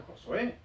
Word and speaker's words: Yahshua: Yahshua, Josué, porque Yahshua se pronuncia Josué, se traduce como Josué.